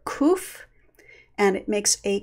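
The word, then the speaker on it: קוף: Sometimes people remember that this one is pronounced kuf and not kaf because the kuf extends down below the line, so it's somehow longer.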